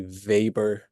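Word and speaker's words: Weber: is web R but he's German so um it it's pronounced like a V vber uh this is from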